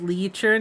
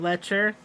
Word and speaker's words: leecher: It's pronounced leecher, not lecher.